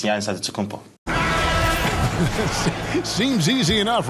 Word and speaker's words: Antetokounmpo: But in the Greek way, you say with the NT, like Antetokounmpo. Whatever you got, just say, you know, it's Giannis Antetokounmpo.